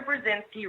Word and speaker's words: Burzynski: I had a hashtag dr. Burzynski rhymes with Lewinsky what are the odds